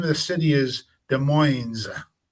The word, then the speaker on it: Des Moines: city, and the name of the city is Des Moines. It's not Des Moines, it's Des Moines. So you pronounce it Des Moines in Gotta put the S on Washington.